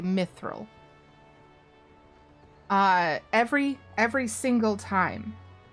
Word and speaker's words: mithril: all fantasy genres that we just call it mithril just like no special tone or any of that like it is an established pronunciation to just say mithril uh every every single